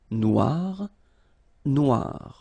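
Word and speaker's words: noire: pronounce it okay so phonetically it is exactly the same Noir Noir Okay g don't pronounce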